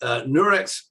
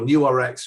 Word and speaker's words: Nurx: Nurex or NewRx or Nurx, depending on what you call it. I think when it launched the Health 2.0, we called it Nurx. We didn't know how to pronounce it.